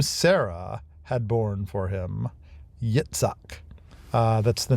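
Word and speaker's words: Yitzhak: had born for him, Yetszak. Uh, that's the name Isaac. It's the same name. It's just better pronounced uh as Yeetssak.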